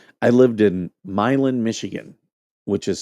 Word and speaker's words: Milan: Like I lived in Milin, Michigan, which is spelled Milan.